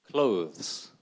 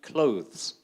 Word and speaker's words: clothes: pronounce this word huh how many syllables one syllable clothes can you repeat after me clothes there you go there's